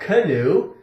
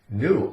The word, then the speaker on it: knew: Not canoe. Canoe is a type of a boat, a narrow, long boat that you paddle down a river or across the lake. No, no, no. Knew.